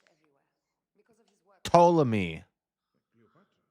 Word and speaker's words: Ptolemy: Ptolemy. Cleopatra? Notice how the P is silent.